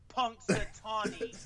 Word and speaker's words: Punxsutawney: He goes, pronounced Punxsutawney.